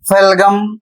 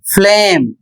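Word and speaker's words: phlegm: जैसे लिखा है पी एच एल ई जी एम इसे यदि आप नियम नहीं जानते हैं तो फेलगम या फिर कुछ और आप पढ़ें जबकि इसका सही उच्चारण होगा फ्लेम और इसका अर्थ होता है कफ या बलगम।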